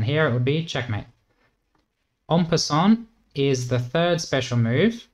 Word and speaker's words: en passant: So here black can actually capture this Pawn like this and it's called En passant, comes from French so you can use French pronunciation if you can. 'En passant', something like that.